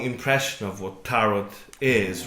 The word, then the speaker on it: tarot: passes people's attitude to tarot becomes different and there's still how do you say it correctly do you say taro i say a t a silent t why is it with